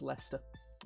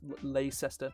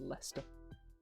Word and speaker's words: Leicester: Yep, that's Leicester. Not Leicester. It's just Leicester.